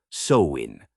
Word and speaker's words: Samhain: Picture the ancient Celts in what's now Ireland, Scotland, and parts of France, celebrating a festival called Samhain, pronounced Samhain, for those keeping score.